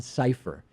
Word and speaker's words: Sipher: on a security website whose last name is cypher like decipher even though it's spelled differently si PHP are John ciphers a former CIA senior